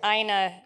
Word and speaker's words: Ina: call her enochina okay Aina rhymes with vagina oh that's right uh